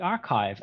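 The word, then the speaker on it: arXiv: preprint server like the archive. And I know that people have people fight about how to pronounce that, but I'm calling it archive.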